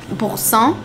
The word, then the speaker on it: Boursin: You overpronunciate the R, like you overdo it.